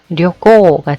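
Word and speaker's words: 旅行: 짧게 료꼬가 되겠고요.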